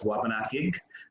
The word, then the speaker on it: Wabanaki: in the Abenaki dialects, they would actually translate it as Wabanakig. So they wouldn't have that chkwa at the beginning of it.